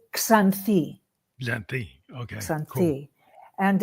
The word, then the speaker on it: Xanthi: So My Xanthi, is that how you say that? It's a hard one for English speakers to pronounce. So Xanthi is fine. Xanthi. Greeks would say it Xanthi.